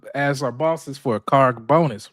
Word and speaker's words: Kharg: Karg Island.